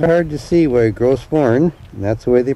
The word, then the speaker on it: Gros: Not hard to see why Gross, that's the way they pronounce it, is a world heritage site.